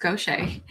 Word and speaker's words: Gauthier: Last name looks like Gauthier, but it's pronounced Gauthier. I'm a business development manager